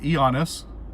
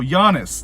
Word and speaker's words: Giannis: G is silent in Giannis. Wait, how's it silent? It's not Giannis. Oh, Giannis. That's right, Giannis.